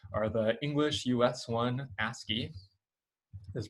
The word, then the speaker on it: ASCII: And so the 2 most famous of these, sort of like the 2 original ones, are the English US one, Ascii, is pronounced ASCII, and then sort of the competing Russian or Soviet Union one, KOI8.